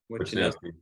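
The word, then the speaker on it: Wishnowsky: Wisnowski, is that how you say his name? Wisnowski.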